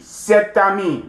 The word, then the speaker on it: cet ami: And when you do the liaison, you will pronounce the T. Cet ami, this friend.